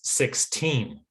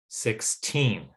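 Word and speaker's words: sixteen: so that second syllable is much stronger than it was in the first the examples before so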